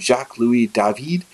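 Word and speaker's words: Jacques-Louis David: during the French Revolution named Jacques lui dahveed that's last name is spelled d-a-v-i-d like David you look at some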